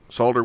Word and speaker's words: solder: liberal amounts of solder solder with an l that's the right way to pronounce it all you guys that